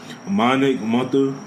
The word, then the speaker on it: Mathur: I got the homie Mathur.